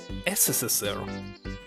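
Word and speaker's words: СССР: By the way, it's pronounced, as I remember, SSSR.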